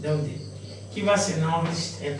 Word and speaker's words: Daudet: is not pronounced, Daudet.